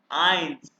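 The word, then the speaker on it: eins: है ए इ तो ये इंग्लिश वाले आई की आवाज प्रोनाउंस करें ए इकट्ठा है ये देखो इंग्लिश वाले आई की आवाज यानी इट्स बीन आइंस आइंस क्या है ये आई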